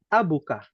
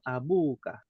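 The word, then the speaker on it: أبوكَ: ke pasar nah ayahmu bahasa Arabnya abuka ya bukan abuka bacanya aja panjang abuka seperti ituah kita lihat rakam Sal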